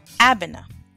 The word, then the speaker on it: Abena: country of Ghana you are called a bona Abena all right and if you are a Tuesday